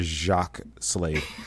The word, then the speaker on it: Jacques: Please write the check to Jacques Slade. It's JACQUES. It's spelled the French way.